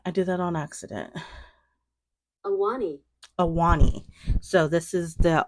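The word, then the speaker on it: Ahwahnee: So I think it's pronounced as Awani. Oh, oops, hold on. Block. That's not what I wanted. I did that on accident. Awani.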